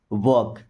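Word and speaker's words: walk: Okay, वॉक ऑन टिपटो, वॉक, इस word में L silent है, साइलेंट लेटर जिसको बोला नहीं जाता है बट लिखा जाता है।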